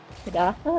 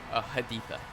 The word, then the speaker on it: Haditha: Um, so just a quick backtrack to um, Hidatha. Is that how you pronounce it? Haditha.